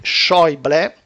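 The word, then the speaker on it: Schäuble: giugno c'è e ieri shoble tedesco corretto giusto Cioè so che mi segue dalla Germania mi corregge sulla pronuncia del tedesco shoble ministro delle finanze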